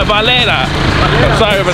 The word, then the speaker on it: Valera: We're getting a real cool look of the downtown area of this city, Valeria. It's called Valera.